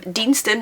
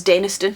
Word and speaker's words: Deanston: Oh, I've heard Deanston, our local one, pronounced as Denniston. That's a very different place. Very different place, Denniston and Deanston.